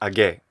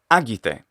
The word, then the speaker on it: agite: a final c um they're not stressed on the final syllable so it's not a gay no absolutely not it's the other problem